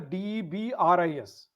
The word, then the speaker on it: debris: I spelled as DEBRIS. mm-hmm. It is pronounced as debris. Mm, S is silent.